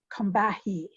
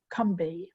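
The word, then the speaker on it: Combahee: company river collective it looks as though it's pronounced combahi but it is pronounced cumbi in south carolina the kumbi river collective had created a manifesto let's said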